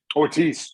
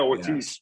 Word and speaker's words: Ortiz: Am I pronouncing his last name right? Is it Ortiz or Ortiz? Ortiz. Yeah, Ortiz.